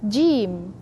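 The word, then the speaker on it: ج: to g j don't say Jim and don't say J like it's you press too much just in between with the tongue in the middle of the center of the tongue help us to pronounce so say gim gim comes from the throat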